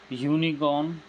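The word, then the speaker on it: unicorn: तो यूनिकॉर्न को जब हम प्रोनाउंसिएशन करेंगे तो प्रोनाउंसिएशन में क्या आता है, यूनिकॉर्न के प्रोनाउंसिएशन में क्या आएगा, और या यानी कॉन्सोनेंट, और कॉन्सोनेंट यानी ए।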